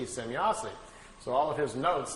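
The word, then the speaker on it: Semyase: Well, Billy was trying to make his notes and was trying to make some, write it down phonetically how the name sounded to him. So he wrote it out, S-E-M-Y-A-S-E, Semyazi.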